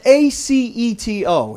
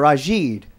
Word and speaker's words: Aceto: My last name's spelled A-C-E-T-O. It's pronounced Aceto or Ajid.